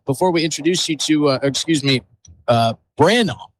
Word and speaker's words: Brandabaugh: And before we introduce you to, Brandaugh is the pronunciation of the Huron Tigers boys head coach today.